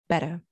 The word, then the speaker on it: better: to make it better notice his pronunciation of better he doesn't say better with an r on the end so this is another regional pronunciation he has better better we always have a